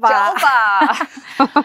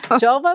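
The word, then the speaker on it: Julva: Oh, and it's called Jolva. Jolva. Jolva, which rhymes with vulva, and that tells you where we put it.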